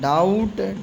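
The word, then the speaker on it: doubt: हल्का साइलेंट रहता है डाउट डाउट बी साइलेंट है लेम और सी के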